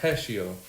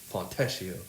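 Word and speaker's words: Fontecchio: happens yeah um Pistons they they get Simone fesio yeah that's how you pronounce it fesio I love him I think he's a great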